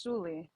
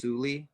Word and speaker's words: Sully: pronounced Suli. I feel like everybody pronounces it Am I wrong, low key. saying? I'm saying Sully. It's Sully. That's how it's spelled, but it's Suli.